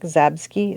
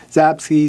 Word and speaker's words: Zapsky: that's run by Frank Zabsky. Did I say it right? Zapsky. Zapsky. Tomato.